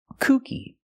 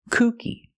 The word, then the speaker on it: kooky: to pronounce them correctly first let's look at Kookie Kookie with a long ooh sound means funny or crazy kooky he tells funny jokes